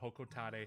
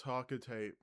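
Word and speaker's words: Hocotate: It's Hokotate. It's not Hokotate. Who? No, it's like very small potatoes, but that kind of annoys me. That annoys me when people call Hokotate Hokotate. That's not how it's pronounced, but okay.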